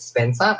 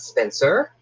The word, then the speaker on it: Spencer: But I hope the Americans out there don't mind that I say Spencer, because in Australia we pronounce it Spencer and not Spencer.